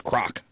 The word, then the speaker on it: Krack: It's spelled Krack, but it's Kroc.